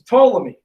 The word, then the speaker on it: Ptolemy: person is a guy don't pronounce the p is ptolemy body has told me